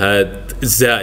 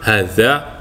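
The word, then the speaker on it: هذا: Misalnya adza ini kan. Nah, ini kalau bacanya adza, padahal aslinya dibaca hadza fasli ya.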